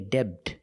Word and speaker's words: debt: Remember, with debt, the B is silent. Do not say debt. It's debt. Silent B.